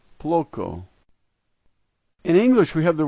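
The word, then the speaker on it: плохо: The third letter is O, and it's typically pronounced A, but in this case it's pronounced O.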